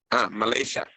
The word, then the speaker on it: Malaysia: ¿Cómo se pronuncia en inglés Malasia? Malaysia.